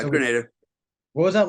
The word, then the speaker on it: Grenada: back to um like Granada or Grenada how do you pronounce it is a Grenada or Granada Gren yeah Grenada what was that like